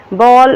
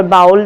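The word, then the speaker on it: bowl: बॉल और बाउल दो pronunciation है उसके, दोनों का मतलब होता है कटोरा एंड प्लेट थाली।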